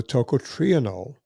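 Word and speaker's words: tocotrienol: You'll notice that it's about half the price of the toot triionol. Hilcatrienol is spelled t o c o t r i e n o l. Toot triionol.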